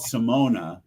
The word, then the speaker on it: Simone: They had a hit from it called Simona, which is spelled Simone.